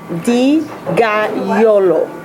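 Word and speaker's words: Dogajolo: versatile so it's carpeneto and then the it's pronounced deolo carpaneto deolo and um I've been drinking this wine for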